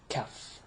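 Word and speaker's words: كاف: So before we run out of time, let's go to pronouncing examples of pronouncing the ka and the qa. So here we go. Ka, kaf.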